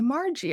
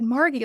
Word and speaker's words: Margy: Well, I used to say because people would get my name wrong. They would say Margie. I said Margie like a margarita.